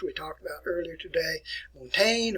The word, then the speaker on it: Montaigne: talked about earlier today montaigne or montana if you want to pronounce it that way here uh case